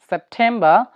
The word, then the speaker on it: September: যদি punctuation mark বা বিরাম চিহ্নের পরে আর থাকে অথবা শব্দের শেষে আর থাকে, তখন সেই আরটি উচ্চারিত হয় না।